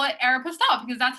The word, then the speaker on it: Aeropostale: think i say supposedly you also say air pastel instead of air apostles so we're not relying on your pronunciation that's very true you know what i actually discovered i was talking to my mom so the reason why i say air pastel not aeropostale is because my mom